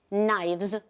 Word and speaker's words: knives: Knives, we not pronounce k.